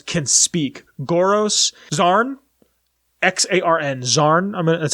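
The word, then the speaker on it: Xarn: these death claws can speak goros zarn x-a-r-n zarn that's how I'm gonna pronounce it um they can speak and the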